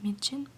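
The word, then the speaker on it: München: picture um right here it says mention and munich that's how they pronounce it and you can see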